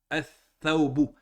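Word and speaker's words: الثَّوْبُ: Le tha fait partie des huruf shamsiya. Comment on va prononcer si on rentre à l'iflam? On va prononcer ath-thawbu.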